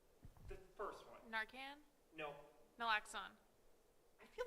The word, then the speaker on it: naloxone: Naloxone.